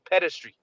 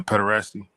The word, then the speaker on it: pederasty: And the wicked elite of that time were all into pedestry, if I'm Yep. saying it right. Yeah, pederasty.